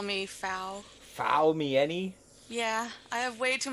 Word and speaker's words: Faumieni: It's Faumieni. Most people just call me Fau. Faumieni?